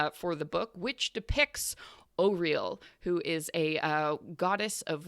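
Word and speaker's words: Auril: I was also pronouncing it Aurel, but it is in fact Oriel, which is great because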